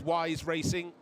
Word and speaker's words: Wise Racing: Now this is Wise Racing. I've been told that's how it's pronounced, with BMW M Team Studi.